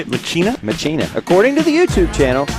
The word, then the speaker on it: Machina: Machina. According to the YouTube channel, that's how he pronounced his name.